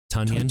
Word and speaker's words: Tonyan: Tonyan. Tonyan. You know, like Funyuns, but Tonyan. Tonyan. Yeah, Tonyan with the T.